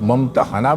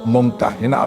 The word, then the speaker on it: ممتحنة: الممتحنہ رکھا گیا ہے۔ اس کا تلفظ ممتحنہ بھی کیا جاتا ہے اور ممتحنہ بھی۔ پہلے تلفظ کے لحاظ